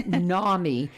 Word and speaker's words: NAMI: there and I and I want to say Nami because it's in a but it's NAMI n-a-m-i so um it's in Ami but pronounced Nami and um it they